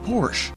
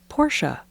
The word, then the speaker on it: Porsche: Bought himself that Porsche. Jillionaire and I were beside ourselves. Really? That's not how it's pronounced. It's Porsche. It's a German word.